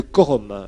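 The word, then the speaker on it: quorum: B on va voir ce qu'on appelle le Corum le Corum ça s'écrit Q u o Rum c'est un mot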